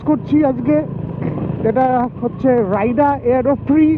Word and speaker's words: AEROPRIX: আর আমি একজনের নতুন গ্লাভসও ইউজ করছি আজকে, যেটা হচ্ছে রাইডা এয়ারোপ্রি অথবা এয়ারোপ্রিক্স, এক্সট্রা সম্ভবত উচ্চারণ হয় না, AEROPRIX, এয়ারোপ্রি আই উড সে।